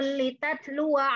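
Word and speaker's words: لتتلوا: Maka ketika waqaf, qad khalat min qabliha umamul litatlu. Gitu bacanya. Litatlu.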